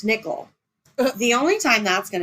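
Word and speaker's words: Nickyl: She named her child N I C K Y L, pronounced Nickel.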